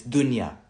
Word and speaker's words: dunya: First of all, if you're gonna say an Arabic word, pronounce it properly. I'm not even an Arabic speaker. I speak Urdu, Farsi, Pashto. I know basic Arabic. Inshallah, I'm gonna get better. But it's dunya, dunya, dunya, dunya or dunya.